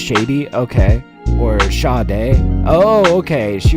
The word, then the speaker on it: Sade: It's pronounced Sade, okay?